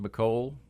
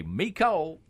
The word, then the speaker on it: McCole: of is kind of supposed to be pronounced McCole, like he's saying, but down south they would almost naturally say me Cole, Right? that me Cole Hartman. Yes. I mean, so maybe it technically is supposed to be that, but it was never pronounced that way because of the area of the country.